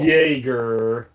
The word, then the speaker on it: Jaeger: Jaeger because the J in German sounds like a Y, but Oh.